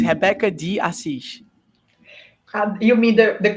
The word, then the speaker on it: Rebeca de Assis: I will, and it's Rebeca de Assis. You mean the correct pronunciation?